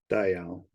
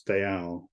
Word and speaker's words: Dayal: would pronounce it uh Dayal Dayal okay all right but anything as uh two syllables with the emphasis on the L so it's Dayal not today they are